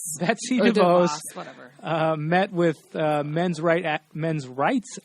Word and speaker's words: Betsy DeVos: And I'm not too well versed on all the issues within it, but again, how do you pronounce her name? Betsy DeVos. Betsy DeVos.